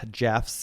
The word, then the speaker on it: Geoff: Also, somebody wrote into us, I think on Spotify, and they were like, you guys, it's pronounced like Jeff, J-E-F.